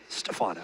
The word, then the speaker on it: Stephano: He is Stephano.